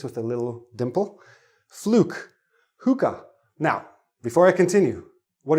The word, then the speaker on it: hookah: this is a hookah it's pronounced hooka okay if you ever